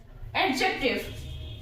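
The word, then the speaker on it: adjective: इसको बोलते हैं एडजेक्टिव एडजेक्टिव यहां पर जबक इसका प्रोनंसिएशन सही प्रोनंसिएशन क्या है एडजेक्टिव है क्यों है क्योंकि ये डी जो है ये साइलेंट है डी यहां पर साइलेंट है लेकिन इसलिए इसको बोला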